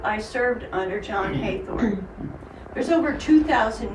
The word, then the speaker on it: Hathorn: Yes, his name is spelled Hathorn, Heathorn, Haithorn, because they're spelling phonetically. That's how they're saying it during his life period.